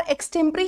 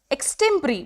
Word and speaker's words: extempore: एक्सटेम्परी यहां पर बच गया, और एक्सटेम्परी ही इसका क्या है? आंसर। एक्सटेम्परी, बहुत बच्चे इसको बोलते हैं एक्सटेम्पोर, एक्सटेम्पोर नहीं होता है।